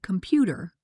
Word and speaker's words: computer: For example, in the word computer, we say com-pu-ter. The middle syllable is stressed.